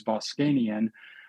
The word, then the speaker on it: Voskanian: Uh, and partially why I went to medical school because my last name is Boscanian.